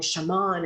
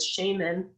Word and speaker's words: shaman: field are fine because it's a borrowed word from a Siberian culture.